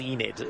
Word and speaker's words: Enid: Her name's spelt Enid, but apparently you pronounce it Enid, which I think is Welsh.